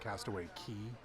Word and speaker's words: Castaway Cay: this one's confusing because it is pronounced Castaway key but this is a